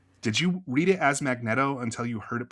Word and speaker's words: Magneto: as Magneto until you heard it pronounced aloud as Magneto, or did you Was